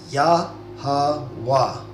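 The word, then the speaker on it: יהוה: So Ya, Ha, Wa. Okay? So that's how you pronounce God's name.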